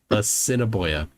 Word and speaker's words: Assiniboia: Assiniboia.